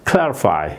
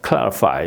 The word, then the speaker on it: clarify: 셀러로 이렇게 나눈 거예요 왜냐면 클 이렇게 발음을 해야 되거든요 클 예 그 안 그러면은 이제 우리가 배운 식으로 잘못 하면은 크 이런 식으로 발음할 수가 있기 때문에 제가 이렇게 나누는